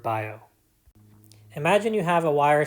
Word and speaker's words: Biot: called the biot-savart law if you have trouble pronouncing this imagine you forgot what sounds the letter T makes and then mispronounced the word by oh imagine you have a